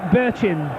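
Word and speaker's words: Bertschin: for Sunderland is Keith Birchin. And it's spelt completely differently, but I'm recommended by the Sunderland supporters here today that that's the way it's pronounced, and I sincerely hope that's right.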